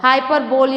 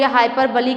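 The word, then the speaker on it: hyperbole: पर बोल पड़ा होगा हाइपर बोली हाई पर बलि कई लोग पढ़ते हैं तो उसमें किसी चीज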